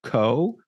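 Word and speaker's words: !Xóõ: So it's in English pronounced co, but if you were to read it, like I'm looking at it on my screen right now, it's an exclamation point, an X, and then 2 O's, but each O has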